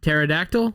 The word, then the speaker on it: pterodactyl: wrong all these years you know that big dinosaur with the wings that flies pterodactyl yeah it's got a p in there yeah i know there's